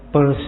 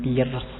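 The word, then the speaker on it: Peirce: ketiga Charles Sanders Pese ituembacanya pulse ya jangan Pierce ya kayak kalau kalian baca dompet pu r s e jadi lebih seperti itu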